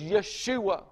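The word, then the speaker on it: ישוע: he became Jesus the the correct pronunciation for Jesus is Yeshua Joshua you can tell the the closeness of the the speech Yeshua Joshua the deliverer I'm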